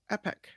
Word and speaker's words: epoch: that's okay all right did you find it e p o c h um Epic I think it's epic according to Merriam-Webster oh my God what